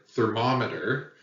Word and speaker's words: thermometer: so for example in the word thermometer you can hear that there's a heavy emphasis on the second syllable mom thermometer okay uh four syllables third moment but the second one has the stress or emphasis or accent thermometer and stress is really